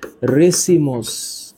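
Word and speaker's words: racemose: এখানে উচ্চারণটা একটু মনে রাখো। একটার নাম হচ্ছে রেসিমোস। একটার নাম রেসিমোস। আরেকটার নাম সাইমোস।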